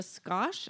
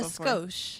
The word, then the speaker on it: skosh: I don't know what is it a squash I've never heard that a skosh oh a skosh I said it wrong because my mom in